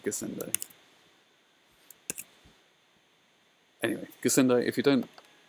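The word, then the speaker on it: Gassendi: a travesty or pronunciation don't they g-a-s-s-e-n-d-i how would that be anything other than gesente anyway gasundo if you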